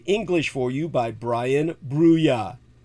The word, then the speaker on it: Bruya: This is, of course, translated into the English for you by Brian Bruya. Tsai Chi-Chung's name is spelled T-S-A-I, like the weapon, the Tsai.